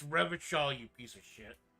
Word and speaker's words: Revachol: It's Revachol, you piece of shit. He pronounces Revocall with a hard K, unlike other people.